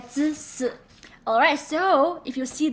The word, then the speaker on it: 自私: So it's 自私, right? 自私.